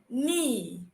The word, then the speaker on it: knee: Whenever you see K before the N, know that the K will be silent.